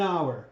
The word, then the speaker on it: hour: does an attorney and an hour silent H right it's do here that is real the vowel so an hour ok it's silent fantastic these are not